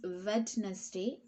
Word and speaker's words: Wednesday: t in one state the letter d is the silent letter we won't pronounce as wednesday it's one t so